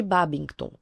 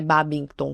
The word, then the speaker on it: Babington: como a conspiração de Bobington. E aqui eu devo ter falado muito errado esse nome, mas enfim. Eh, é Babington que se escreve mesmo.